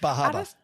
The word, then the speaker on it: Bar Harbor: And I love I really like Bar Harbor. I liked all the things there. I think it's pronounced Bahaba, by the way.